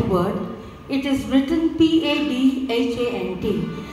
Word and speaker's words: Padhant: Padhant is actually the correct word. It is written P-A-D-H-A-N-T. But in Hindi it's said, it's pronounced as Padhant.